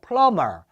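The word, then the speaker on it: plumber: 세탁 세탁물 자 프라우 마 여기에서 비가 발음이 나지 않아요 그래서 풀러 멉니다 트라우마 따라 세요 플럼 아 그래서 배관공 배관공 원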